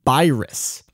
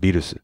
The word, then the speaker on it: Beerus: Well, that's because for one thing, in Japanese, it's pronounced Beerus. Right, well, there you go. But it's also based not on the English pronunciation, which is pretty much non-existent in Japan, but on the German pronunciation, Virus, so which was rendered in Japanese as Beerus.